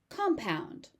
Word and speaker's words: compound: This word can be used as a noun or a verb, but the pronunciation pattern, the stress pattern remains the same. So compound is good for all uses.